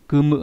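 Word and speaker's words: 組む: Ví dụ kumu này, âm kun là đọc là kumu, có nghĩa là gì nhỉ, có nghĩa là lập ra, lắp ghép.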